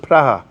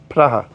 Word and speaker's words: Praha: want to call prog I think in Czech today they pronounce it pra is that right I think they pronounce it praha praha but uh I'm not Che